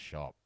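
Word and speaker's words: shoppe: sure yeah exotic well they say that that um that apostrophe or that e at the end wasn't actually pronounced and it was always just shop well I saw the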